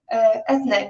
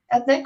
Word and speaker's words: Eithne: I have an Irish first name that is pronounced with an A at the end, even though it's Eithne.